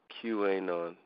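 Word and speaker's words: QAnon: go under the name people pronounce it Q a non Q a a non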